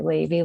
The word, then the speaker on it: Lavy: My last name's Lavy, so I say Lavy like gravy.